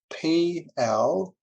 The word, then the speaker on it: plerk: And John Barnaby, my mentor at the time, he put this word up on the whiteboard, and it's spelled P-L-E-R-K, plerk.